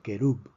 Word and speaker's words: querub: Vemos que esta palabra termina en una consonante que no es ni N ni S, por lo tanto es una palabra aguda. Se pronuncia querub.